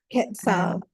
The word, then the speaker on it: Quetzal: Maybe Michelle, you can help me with the pronunciation of this. Quetzal.